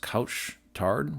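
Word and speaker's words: Couche-Tard: However, Circle K, and I believe it's pronounced couch tard, which means late night in French, I'm not quite sure the correct pronunciation, is actually a little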